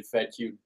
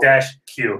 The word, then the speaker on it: Fedkiw: No, it's not Fedkiw. It is not Fedkiw. It's Fedkiw. Nailed it. You're like the only one that got it. Yeah, well, John wrote it down phonetically for me. Okay, well, he's a pro. Fed-Q. Yeah, Fed-Q.